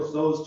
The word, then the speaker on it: Tso: There's a famous dish that Jake loves. Moab makes it. Chinese. Khan. General Tso's chicken. You said it right. Jake says it General Toast chicken.